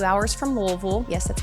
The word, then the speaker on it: Louisville: You're about an hour from Nashville, less than 2 hours from Louisville. Yes, that's how you pronounce it.